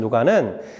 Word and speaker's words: 누가: 여러분, 누가복음은 누가 썼을까요? 누가 썼냐면 바로 누가입니다. 사실 누가의 원래 헬라어 발음으로는 루카스이고요. 영어로는 루크입니다. 우리말로는 발음하기 쉽게 누가로 이름하였습니다.